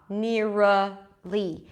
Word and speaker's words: nearly: Keep the back of the tongue connected to the teeth, near, and as you pronounce the R, push the tongue forward until you hear it change to an L, nearly.